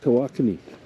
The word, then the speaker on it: Tawakoni: Lake Tawakoni. Hey, I pronounced it right.